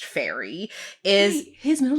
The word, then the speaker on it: Ferry: So, Guy Ramsey Fieri, his birth name is Ferry, and is pronounced Fairy.